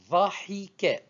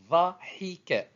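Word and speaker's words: ضَحِكَ: Verbe suivant, vocalisé, dhahika.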